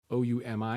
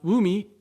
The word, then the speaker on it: Oumi: Okay, so story 3, a new analysis conducted by the New York Times in partnership with AI startup Oumi, O-U-M-I, you can pronounce that how you want, Oumi, finds that